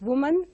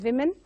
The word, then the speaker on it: women: So women is pronounced as woman by many. So we have to rectify this and pronounce it as women.